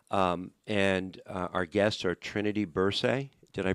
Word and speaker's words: Bursey: And our guests are Trinity Bursey. Did I pronounce that right? Bursey.